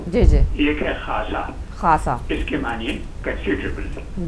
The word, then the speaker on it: خاصا: خے، الف اور سواد اور چھوٹی ہے، اس کے دو تلفظ ہیں. جی جی. ایک ہے خاصا، خاصا اس کے معنی کنسیڈریبل.